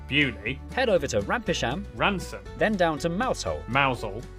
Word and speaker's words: Rampisham: Starting in Biaulio, Beaulieu, head over to Rampisham, Ransom, then down to Mousehole.